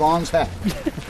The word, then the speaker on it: Ong's Hat: Hat's still there let's just call it On's hat and you know it's it's a little oversimplified I think because you know how could it be that easy to name a town but that's how they say it Act he's a very